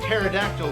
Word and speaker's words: pterodactyl: no sound when a pterodactyl goes to the bathroom because the p is silent i know you know about dinosaur sky it's spelled with a p you don't pronounce it p is silent hey this is mr